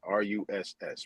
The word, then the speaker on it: Rus: Rust is like rusty. What is rusty? White people could be rusty. Anton, just so you know, the word is Rus. It's how you say it.